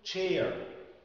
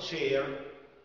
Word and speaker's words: chair: خلي بالنا كلمة chair، chair يعني كرسي. لو أنا قلت share، share يعني يشارك زي ما أنتوا كده إن شاء الله بعد الفيديو هتعملوا له شير، أوكي؟